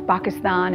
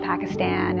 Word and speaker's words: Pakistan: writers and producers and telling them how to pronounce things properly and you know it's bacchus thon it's not Pakistan and its Muslim not Muslim and you know